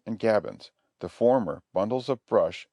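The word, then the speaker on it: gabions: forms a complete breastwork the word is pronounced gavins the fashions pronounced fashions are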